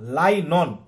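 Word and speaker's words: nylon: আর কৃত্রিম বলতে গেলে আমরা এগুলো কৃত্রিমভাবে পেয়ে থাকি, যেটাকে আমরা পলিয়েস্টার বলি, রেয়ন বলি, রাইলন বলি, লাইনন, ঠিক আছে, উচ্চারণটা কিন্তু রাইলন না, লাইনন, ঠিক আছে, এগুলো আমরা পেয়ে থাকি।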